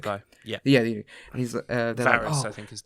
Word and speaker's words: Varys: And they go, because what happened, right, is that Viserys. Oh fuck it! I'm getting his name wrong. Shit, Viserys, the eunuch bald guy. Yeah. Yeah. And he's Varys, I think his name is. Varys.